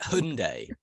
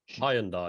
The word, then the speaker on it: Hyundai: Yeah, is it Hyundai? Hyundai. Hyundai. Exactly. not It's that. Hyundai. That's Come on. Hyundai. It's Hyundai, was- mate.